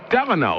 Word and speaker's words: Delano: how you doing there how do you spell that d e l n o Delano like like Franklin Delano Roosevelt yes yes so you